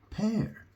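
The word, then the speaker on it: père: right May and uh dad is pear pear what an interesting word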